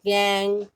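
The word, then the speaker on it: gangue: इसमें जो पूछा जाता है गैंग, इसकी प्रोनाउंस गैंग, इसकी डेफिनेशन आपको लर्न होनी चाहिए।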